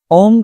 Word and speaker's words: ओम: तीन पार्ट्स में हम ओम के उच्चारण को डिवाइड करते हैं। अ, उ मैं अ की ध्वनि हमारे पेट से आएगी। उ की ध्वनि हमारे चेस्ट से आएगी और मैं की ध्वनि हमारे थ्रोट से यानी कि हमारे ग्ल गले से आएगी।